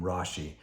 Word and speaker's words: Rashi: his not nickname but the easiest way to pronounce his name rashi he was french he was a jewish scholar